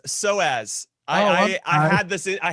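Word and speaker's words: psoas: honest with you he was struck by the personas no no no it's pronounced soaz i i had this i had this injury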